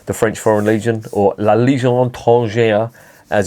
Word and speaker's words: La Légion étrangère: went to join the French Foreign Legion, or La Légion étrangère as it's pronounced.